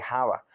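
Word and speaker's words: Chava: Y Eva, bueno, no se dice Eva, se dice Java.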